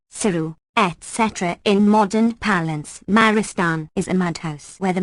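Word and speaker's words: مارستان: Maristan, pronounced Muristan, a corruption of the Purs.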